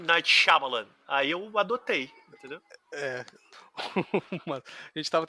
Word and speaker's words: Shyamalan: porque é Marcelo que está dizendo, que é Shyamalan. Eu jamais falei Shyamalan como Shyamalan na minha vida, mas agradeço. Eu não sei se está correto. Mas nos trailers eles falam M. Night Shyamalan.